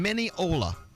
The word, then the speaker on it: Mineola: Katia is calling from Mineola, Oh. Oh, Mila. which rhymes with granola, which I could believe that's the answer to the question you're about to ask us.